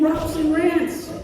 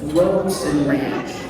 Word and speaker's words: Rosen Ranch: They meet regularly and in in in Robson Rants, but it's Rosen, right? It's Rosen Ranch.